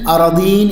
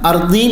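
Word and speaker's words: أرضين: ഇവിടെ ഇൽമു പഠിക്കുന്നവർക്ക് ശ്രദ്ധിക്കാൻ വേണ്ടിയിട്ട് പറയാണ്, തുവിഖഹു മിൻ സബ്ഇ അറദീൻ എന്നാണ് അതിൻ്റെ പ്രബലമായ ഉച്ചാരണം. അർദീൻ എന്നും വായിക്കപ്പെടാം.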